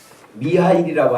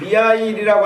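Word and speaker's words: Михаил: 그 미하일이라고 하는 그 이름은 러시아어로 미카엘이라고 하는 천사를 미하일로 읽어서 발음이 미하일인 거예요.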